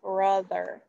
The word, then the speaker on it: brother: let's do brother brother what sound does that o make brother does it say off brother does it say oh brother or does it say uh brother it says uh like oops i didn't mean to do that it says uh like brother like from good all